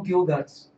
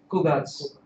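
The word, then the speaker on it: 九月: No, there's no Kyugatsu. Kugatsu.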